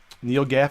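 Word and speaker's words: NeoGAF: on the Neo uh Neo Gaff is how you say it their forms I think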